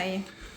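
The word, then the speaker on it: açaí: Yeah, acai.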